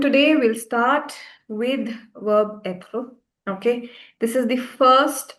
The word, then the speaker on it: être: All right, so everyone, today we'll start with verb être.